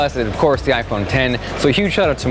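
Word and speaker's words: iPhone X: is spelled out i phone act the correct pronunciation just like final cut just like logic is iPhone 10 the number now this was the first Apple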